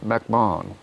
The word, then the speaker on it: McMahon: I mean, and by the way, it's the H, because we don't pronounce, in England, my name would be, it would be pronounced as Gerard McMahon, because there's no, the H is silent.